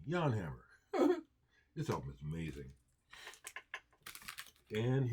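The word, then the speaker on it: Jan Hammer: say his name right I'm saying Yan and hammer like a Yank Yan, excuse me, Yan Hammer.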